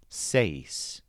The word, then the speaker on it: seis: Seis is an interesting word because it stresses the bent vowel sound A. Seis.